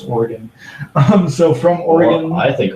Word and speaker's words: Oregon: I have a friend in Oregon that informs me that the Minnesota pronunciation of Oregon is not correct. It's Oregon.